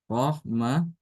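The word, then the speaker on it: رَحْمَة: kayak tadi ya seperti ini ya ini tamarbut Rahmah ini sama ya antara Imam Ibnu hafz Samaun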